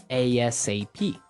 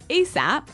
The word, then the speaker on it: ASAP: So it's an acronym, and you can say it like ASAP or... ASAP.